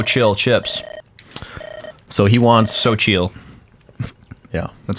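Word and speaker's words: Xochitl: Yeah, So Chill. XO. XO, it's like Zockville. Zockteal is what Yeah. it looks like. Yeah. But it's pronounced So Chill.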